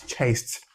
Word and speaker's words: chased: It's chased.